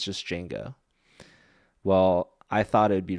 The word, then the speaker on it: Django: So So there's a So Django is spelled DJ, but you don't pronounce the D.